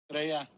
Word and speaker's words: Estrella: Estrella.